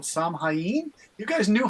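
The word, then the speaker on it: Samhain: perfectly naked and Bone Sam hyen is how you say that so um you know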